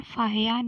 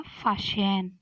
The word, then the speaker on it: फाहियान: फिर दूसरा है फाहियान या फाशियान। जैसे अगर हिंदी में फाहियान ही लिखेंगे लेकिन इंग्लिश में थोड़ी स्पेलिंग अलग हो जाती है तो फाशियान भी कह सकते हैं।